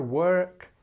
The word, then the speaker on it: work: many people know um it has this ER sound so it's ER work so he works same